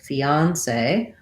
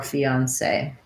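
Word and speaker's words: fiancé: have a diphthong a so fee on say so either fiance or fiance i think this one is probably a little bit more common for american speakers but both are acceptable okay and then let's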